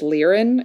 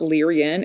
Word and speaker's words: Lyran: I also identify with Li rien starseed I mispronounced that it's leerin it's not Leary in it spelled ly ra n leer in star